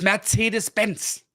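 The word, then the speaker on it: Mercedes-Benz: familiar but yeah that's it then mercedesbenz it's mercedesbenz mercedesbenz mercedesbenz mercedesbenz and uh the reason for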